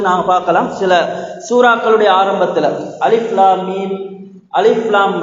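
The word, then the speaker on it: الم: சூரத்துல் பக்ராவுடைய முதலாவது வசனம் அலிஃப் லாம் மீம் என்று ஆரம்பமாகின்றது. அதனை நாங்கள் அலிஃப் லாம் மீம் என்று அந்த எழுத்து முறைப்படிதான் அதனை நாங்கள் உச்சரிக்க வேண்டும். அதற்கு மாற்றமாக அலம் என்று நாங்கள் உச்சரிக்க முடியாது, ஓத முடியாது.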